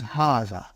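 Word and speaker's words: هذا: to erase it see it is pronounced like ha huh but this Al is not written it is explained in the key also so it is haah okay haah means this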